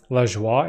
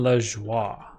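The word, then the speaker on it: Lajoie: found i don't know how do you pronounce this um jonathan l-a-j-o-i-e le joy i think so he's from quebec that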